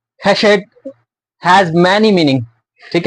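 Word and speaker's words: חסד: ठीक है, the Hebrew word Hashed is pronounced Hashed has many meaning.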